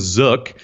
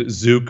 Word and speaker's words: Zook: for it so his last name was Zook and Zuk Zuk however you want to pronounce it getting Kenny in Canada Zook here in America Zook I guess I don't care it doesn't matter mean